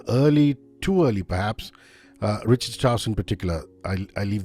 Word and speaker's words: Richard Strauss: too early perhaps uh Richard Strauss in particular I I leave the mic open to you so rard Strauss you know I'm using the German pronunciation because he was born in Munich he was a child